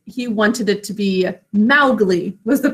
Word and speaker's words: Mowgli: Everyone says Mowgli instead of Mowgli. But it makes sense because there's that ow, cow in the snow phonogram. Mowgli. Can you imagine if everybody just went around saying Mowgli?